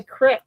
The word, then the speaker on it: creek: Like Pennsylvanians, we say crick instead of creek. Yep. It's not a creek, it's a crick.